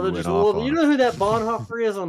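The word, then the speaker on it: Bonhoeffer: Dietrich Bon haer and it is Bon haer I'm sorry for people who don't know how to pronounce German and German names I know it looks like it's Bon Hofer but it's not German OE is a but Bon haer says sorry I'm in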